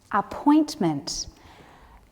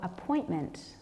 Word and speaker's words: appointment: time show me great appointment the stress for appointment is on the second syllable ah Point meant did